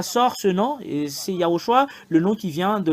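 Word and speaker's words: יהושע: nom euh il n'est pas comme les autres yahoshua c'est ça le nom qu'on prononce ici c'est lui qui vous a sauvé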